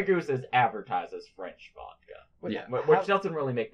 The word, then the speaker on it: vodka: In Russian, or I guess with a Russian accent, it'd be pronounced more like vodka, like a very soft V into like a W-E sound.